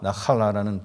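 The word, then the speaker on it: נחלה: 어 믿음의 그 믿음 생활을 하면서도 우리의 자세가 달라질 수가 있습니다.이 기업이라는 단어는 그 히브리어로 나팔라 나할라라는 단어입니다. 나라 나할데 원래 이제 거친 소리로 이제 나할라 뭐 이런 발음이라 그래요.이 이 나할라는 그 단어인데 이것은 첫 번째 어 하나님의 소유를 사람에게 맡긴 위물이에요.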